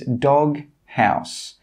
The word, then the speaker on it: doghouse: But when two words are joined together and there's a G and a H next to each other, we do pronounce both letters. A very common example is dog house. Dog house. In this word, we're pronouncing the G and the H.